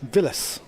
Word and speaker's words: Vilas: so far weren't little can you please pronounce Vilas correctly he's not related to the former Argentinian tennis player phonetically v i y whereas yeah she's a proper L Villas yeah thank you George